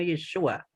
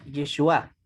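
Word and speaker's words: ישועה: No, no, dice Yeshua, no es el nombre masculino Yeshua. ¿Eh? Es Yeshua, con acentuación en la última sílaba.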